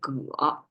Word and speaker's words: 戈: It pronounced as 戈, and that's like double purpose tool making, either farming or weaponry.